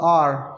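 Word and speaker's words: hour: Silent H जिससे हम कहते हैं जी ऑनेस्ट, ऑनेस्ट नहीं बोलते, ऑनेस्ट, तो एच हमारे इसमें साइलेंट है, तो इसके साथ हम एन यूज़ करेंगे. जैसे आर, हाफ एन आर, हार नहीं बोलते, आर कहते हैं, तो इसके साथ भी हमारा एन यूज़ होगा.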